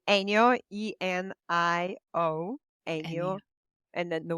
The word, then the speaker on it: Enio: So it's Enio, E-N-I-O, Enio, and then the word style. Eniostyle. Okay, cool. Eniostyle. E-N-I-O style.